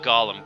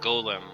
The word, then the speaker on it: Golem: Well, not Gollum, Golem, I suppose I should pronounce it.